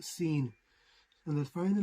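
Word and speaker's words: שׂ: And Sheen, if the Dagesh is on the right, is pronounced Sheen. If the Dagesh is on the left, is pronounced Seen.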